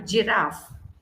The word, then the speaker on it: giraffe: So whenever you see a word GI, you will understand it is like, for example, giraffe.